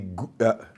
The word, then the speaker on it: Gouda: So in Amsterdam, a local objectivist arranged a talk for me in the Gouda is how you pronounce it, Gouda City Hall.